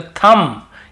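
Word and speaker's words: thumb: पर भी बी को नहीं पढ़ना है तो थम यहां पर भी बी को नहीं पढ़ना है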